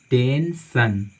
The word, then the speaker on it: tension: आप इसको क्या पढ़ते हैं, टेंशन, टेंशन, टेंशन का मतलब होता है परेशानियां, है ना, जिसको हम प्रॉब्लम भी बोलते हैं।